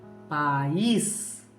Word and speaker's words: país: Quando eu insiro o acento agudo, ficaria país, que é o meu país. Eu vivo no país brasileiro. Eu vou para o país da Venezuela. Eu vou para o país do Uruguai.